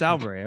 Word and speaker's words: Sauerbrey: how do you say your last name it's alberta okay you're uh you're with the coffee republican